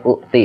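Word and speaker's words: أُوتَ: Nah, awas ya. Ini dibacanya u'ti ya.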